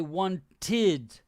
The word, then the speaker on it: wanted: needed look at this so when a word ends in a d or a t like this the pronounce the pronunciation is of the ed is like this um id so the past simple tense or simple past tense so the ed we say one tid needed okay wanted need did